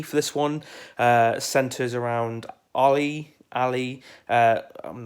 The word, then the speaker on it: Ali: It's pronounced Ali, like Muhammad Ali.